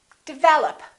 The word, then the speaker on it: develop: a lot of people develop second syllable is stressed this is reduced this is reduced develop once in a while